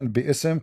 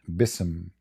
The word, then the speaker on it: بِإِسْمِ: All, it's saying bi'ism correctly. You see it? Right. فَسَبِّحْ بِإِسْمِ رَبِّكَ. So what they do, because the pronunciation will make it so hard to sing